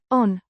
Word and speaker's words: on: verb to be meaning is pronounced on with a short or sound like the o in off an adverb meaning also